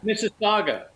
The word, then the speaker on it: Mississauga: Paul, how do you pronounce that suburb? Mississauga.